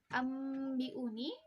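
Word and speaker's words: أنبئوني: Nah, yang benar adalah kita merapatkan bibir ketika membacanya, tapi jangan terlalu ditekan. Seperti ambiuni, bukan ditekan, tapi dia memang bibir dirapatkan tapi tidak perlu ditekan.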